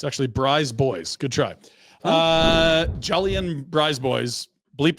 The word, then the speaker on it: BriseBois: It's actually BriseBois.